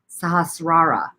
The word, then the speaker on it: sahasrara: that right but uh it is s-a-a s-a-h-a-s-r-a-r-a that's like an s and r together so it's like a sahasrara something like that sahasrara so it's diff